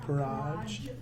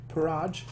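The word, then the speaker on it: Purraj: Slaughter and dance death how do you pronounce that it's like a the race of cat people from Mirage p u r r a j parage parage I would say not parage puraj no like Pur and then Raj like it's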